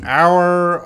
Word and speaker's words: hour: These words, hour, honest, honor, they all have the silent H.